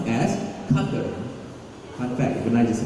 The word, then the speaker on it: Qatar: He said, he will actively remind all of you that Qatar is pronounced as Qatar.